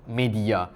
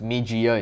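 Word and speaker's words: Meidi-Ya: Japanese premium grosser called media and I did a quick search and you should pronounce it as Mijia instead.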